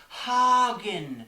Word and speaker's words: Hagen: me whoever you are it's pronounced Hagen and that does not rhyme with faking no matter what accent you say it in oh go away you